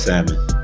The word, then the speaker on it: salmon: I don't know different I pronounce the L I say yeah yeah